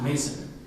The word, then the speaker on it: Mason: Mason, but it's spelled the French house, Maison, but it's pronounced Mason. Confusing?